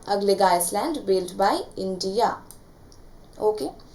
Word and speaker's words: Agalega: एंड इसके बाद अगलेगा Iceland, ये AGALEGA, इसको अगालेगा भी बोलते हैं और अगलेगा। वो सबसे स्मूथ तरीके से आप बोलोगे, वो प्रोनाउंसिएशन ठीक करके बता दीजिए, वो है अगलेगा आइसलैंड।